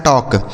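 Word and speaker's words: talk: अब यहाँ जो यल लिखा है ना दोस्तों, यह साइलेंट है, मतलब इसको नहीं पढ़ा जाएगा। ठीक है, के से पढ़ेंगे क, इसे पढ़ा जाता है टॉक।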